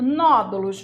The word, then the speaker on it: nódulos: para você enxergar né a sílaba tônica é a anti penúltima se a anti penúltima ela é uma proparoxítona e todas as proparoxítonas são acentuadas você não precisa de